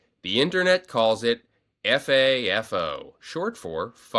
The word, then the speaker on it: FAFO: F AFO, often pronounced Fafo, is based on the